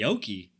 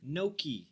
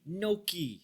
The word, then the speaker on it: gnocchi: vegan tikka masala traitor the Yoki you had an actual little syllable there no key no key don't disrespect my Italian Heritage all right God dang